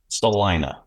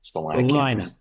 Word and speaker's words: Salina: Salina, Salina. I didn't want to mispronounce it, say Salina, potato.